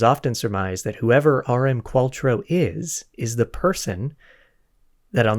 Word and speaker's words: Qualtrough: Sometimes I've heard that pronounced Qualtrough, but I think it's Qualtrough.